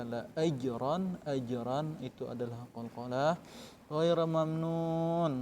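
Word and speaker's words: غَيْرَ مَمْنُونٍ: Ghaira mamnun, nunnya kalian panjang, mat arid sukun. Kalian dibaca panjang, jangan seperti ini membacanya.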